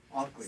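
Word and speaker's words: Auckly: Auckley. Swiss. How do you spell that? It's now spelled A-U-C-K-L-Y. The original spelling was A-U-C-H-L-I. Oh, yeah, like Ed Hockley in football.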